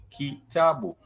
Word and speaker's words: kitabu: which means a book, it has the key, the ta, and the bu. So those are 3 vowels. Those are 3 vowels. The key, the vowel e, the ta, which is in the syllable the vowel a in the syllable ta, and the vowel u in the syllable bu. Kitabu.